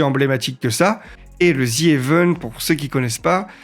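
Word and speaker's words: ZEvent: event le Z event parce que l'objectif est de jouer sur la prononciation un petit peu du Z à l'anglais pour dire Z event et que ça soit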